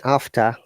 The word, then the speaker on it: after: Letter R is not pronounced if it is after. As you can see in after, I have not pronounced the R because in after, R is the last word, last letter, and second, third, or